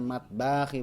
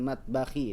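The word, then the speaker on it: مطبخ: matbaki bnya pendek ya bukan matbaki bukan Hiya fil matbakhi dia di bapur berikutnya ah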